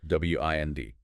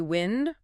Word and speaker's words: wind: W I N D can be wind rhyming with send. That's the noun. Moving air. Or wind rhyming with find.